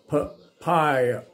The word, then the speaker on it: papaya: Did you say?Papaya, ออกเสียงเงี้ย papaya. นี่นะครับเนี่ย phonetics นะ papaya. ไม่ใช่ปาปายานะครับ papaya.